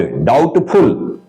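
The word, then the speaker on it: doubtful: जाता है डाउटफुल डाउटफुल डाउट मत पढ़ना बी को साइलेंट कर देना है यह बी जो है य साइलेंट रहेगा य बी डाउट डाउटफुल यह पढ़ना हमको डाउटफुल डेटर संदेहास्पद डेटर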